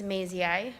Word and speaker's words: Mazii: As I tell the kids, Mazii rhymes with lazy eye, and I'm so pleased to be joining the River Falls School District this year.